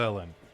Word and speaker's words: Velen: t and i think i was pronouncing velen wrong yeah it's velen it's vel the villain va lynn harpal so i'm saying valen it's actually going to be velen so i'll just try